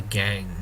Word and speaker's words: gangue: And it's used in mining to separate the minerals from the gangue. Now, gangue, pronounced gang, but it's spelled like that.